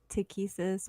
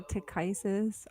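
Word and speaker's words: Takhisis: things I don't know some people pronounce tikisis or tick Isis I say to kisses I don't know accuses kisses but I have heard people like on YouTube pronounce it to crisis I watched a lot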